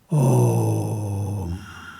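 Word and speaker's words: ॐ: A plus U will combine as O. Then you close your mouth. Om.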